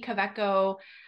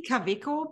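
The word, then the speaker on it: Kaweco: or coeco it's probably kaviko because it's uh the V and W in Germany are basically exactly the opposite pronunciation as in in the states which makes sense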